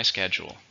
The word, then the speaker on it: schedule: a noun is countable how many syllables schedule to stress on the first one let's listen to the sentence are you free at four I don't know let me check my schedule number eleven is assume